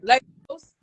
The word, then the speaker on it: Lagos: Let me see if I can pronounce it right. Largo, Lagos, Nigeria? Lagos.